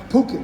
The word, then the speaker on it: Phuket: but i learned the hard way that it's pronounced phuket so when you fly into phuket don't get